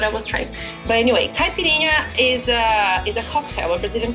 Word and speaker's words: caipirinha: This is called caipirinha. Say. Oh, your pronunciation is good. Say again. Caipirinha? Caipirinha? Caipirinha, good.